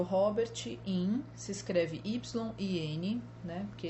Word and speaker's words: Yin: Um deles é o Robert Yin, se escreve Y-I-N, né, porque ele é asiático.